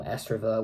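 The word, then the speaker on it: ESREVER: S-Rever, which is just reverse backwards, which is a track which I found this on my computer, and it was the original track I made for my short film S-Rever, which is technically, it's reverse, written in reverse.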